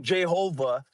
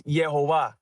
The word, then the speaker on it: Jehovah: It's not Jehovah, right? Like Jay-Z pronounces it. It ain't like that. The J is like, it's like a H sound, or in Spanish, it's Yehovah or Yehovah.